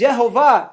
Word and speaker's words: יְהֹוָה: in the Alo codex the true pronunciation of elohim's name is yahovah I ex announced excitingly